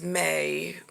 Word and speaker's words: Maye: again uh i didn't realize her name was may i think that's how they pronounce it musk elon musk's mom um she